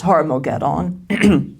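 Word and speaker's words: Har-Magedon: of my throat, but the G is supposed to be a very throaty G sound, but it's Har-Mogeddon, and in Eschatology 201, we talked about this in Zechariah chapters 12 through 14.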